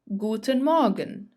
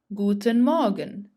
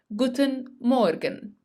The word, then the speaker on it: Guten Morgen: Good morning would be the famous Guten Morgen, Guten Morgen. Pay attention to the pronunciation because I hear many German learners who say Guten Morgen. Notice that the R is silent.